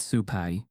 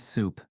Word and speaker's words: soup: Not sup. You round the oo it like this soup. Less breath.